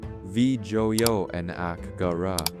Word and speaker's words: Vijayanagara: Say it correctly. Vjoy naka.